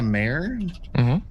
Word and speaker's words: Mayer: Cap Ulrich, Cynthia Mayer, like Mare.